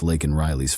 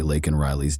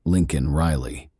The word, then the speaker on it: Laken Riley: but did not downplay Laken Riley's death. To the thunderous cheers of his supporters, Biden mispronounced the victim's name during the speech, saying instead Lincoln Riley.